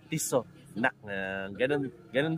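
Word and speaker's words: Tissot: Sabi nung nung subscriber ko, wag daw natin sasabihin to ng may letter T sa dulo. Kailangan wala raw, silent T raw. Tiso. Ganun daw pala.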